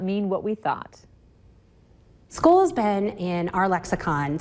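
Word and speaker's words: skål: teaches Swedish at the American Swedish Institute goal school school mm-hmm that's how it's pronounced how do you spell that SK a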